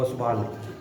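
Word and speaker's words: Ostwald: ये बात करने वाले जो आदमी द वो ओसवाल हान इसलिए इसको बोलते हैं साइलेंट है हान उसे बाल डाइल्यूशंस ओसवाल डाइल्यूशन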